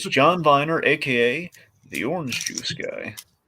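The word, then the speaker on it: John Viener: a v is Viner okay I always say verer that's how I heard that's how I've heard it pronounced it's John Viner aka the orange juice guy and also the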